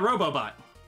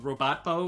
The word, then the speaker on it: Robobot: Kirby Planet Robobot. Robobot, yeah, I got that. That was always confusing when I always wanted to say it like Robot-bo or something, or Robot-ot.